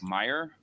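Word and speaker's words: Mayer: first from Deputy special agent in charge Meyer it's uh pronounced Meer it's spelled m a ye R is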